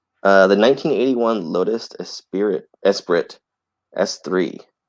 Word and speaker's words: Esprit: the 1981 Lotus espir Esprit S3 it's a spirit but is it Spirit yeah it's a Lotus dude well some it's spelled es P r t it's a spirit yeah um that's what